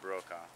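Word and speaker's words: Brokaw: so it's okay and how do you spell that last b r o k a w like Tom bro Tom bro my dad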